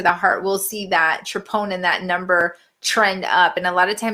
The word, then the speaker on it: troponin: maybe you can explain again to me the troponin.